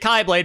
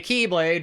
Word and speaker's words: keyblade: the the kai blade I'm pronouncing it kblade because that is actually how that letter is pronounced they say keyblade because of a pun but no that is not how the letter Kai is pronounced I am sorry would